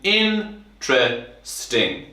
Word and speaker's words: interesting: interesting interesting difficult important and the pronunciation in tred sting it actually has three syllables in the most common pronunciation interesting interesting interesting interesting